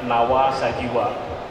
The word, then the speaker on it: Nava Sajiva: Ini kalau bahasa Finland dibacanya nawa sajiwa. Jadi V dibaca W ya mungkin lebih tepat sajiwa ya.